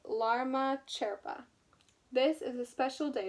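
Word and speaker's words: Lama Chöpa: December 29th yesterday was Lama choppa you say I said it wrong you say lama sherpa this is a special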